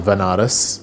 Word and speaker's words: Banaras: so i ended up going to banaras which is a place in india sometimes pronounced as vanaras which is a place